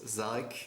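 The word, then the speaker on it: Szarekh: Du coup, alors je vais être franc, je n'arriverai jamais à prononcer son nom je pense. Zarek. C'est Zarek, c'est juste C'est Zarek.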